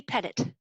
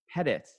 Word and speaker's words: Pettit: Pettit. Pettit. Yes. It's my, I guess being in Ottawa, sometimes you always think people have a French name when they don't. Yes. Right? Well, Dr. Pettit, I appreciate, well, I'm not a robot.